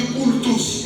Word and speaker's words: cultus: I have that where Ça vient de à latin on dit cultus, parce que quand c'est U, à latin on prononce ça U.